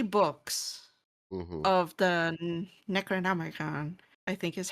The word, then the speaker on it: Necronomicon: of the Necronomicon, I think is how you say it. Yeah, you're right. Yeah. The Necronomicon.